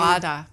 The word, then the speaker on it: feijoada: where I can't know how to pronounce the name. Feijoada.